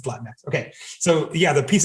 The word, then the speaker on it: Latinx: It's just Latinx. Like it's Latinx. It's actually, it's beyond parody Anglo. It's literally just that. Yeah. Right. And for those who aren't Spanish speakers, the NX phoneme doesn't exist in Spanish.